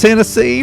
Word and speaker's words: Hennessee: let's do it again when your last name rhymes with Tennessee it's only F yes uh Hennessy from Tennessee absolutely glad